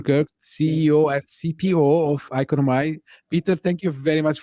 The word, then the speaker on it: Iconomi: leading the team at iconomi U some pronounce it as economy uh we are basically